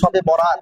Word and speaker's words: শবে বরাত: আর বারাত যদি আমরা বাংলা একসাথে বলি শবে বরাত, মূলত উচ্চারণটা হলো, যদি শুদ্ধভাবেও বলি তাহলে ও হবে এমন, শবে বারাত।